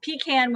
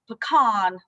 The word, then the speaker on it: pecan: but my grandfather joked it's pecan when you pick them and pecan when you sell them so i figure however